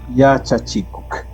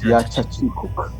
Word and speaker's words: Yachachikuk: Yachachikuk. Ya, Yachachikuk. Acá el acá es pronunciado. Ya no es muda, es Yachachikuk.